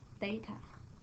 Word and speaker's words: theta: And it pronounced as theta.